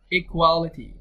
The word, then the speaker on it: equality: Equality. Or equality. يعني light. بقولها light. T هنا منطقها light D خفيفة عادي.